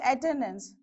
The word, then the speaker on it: attendance: For example, attendance. So attend, you have on the second one. Again, even though dense suffix is added, you will have on the same second syllable.